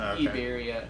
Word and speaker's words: Iberia: Madrid Airport the Iberia if you want to do the Spanish pronunciation Iberia Airline terminal is like